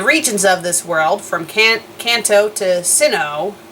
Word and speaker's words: Kanto: of this world from Kanto to Sinnoh or the proper pronunciation for cane toe is apparently Kanto but I'm so used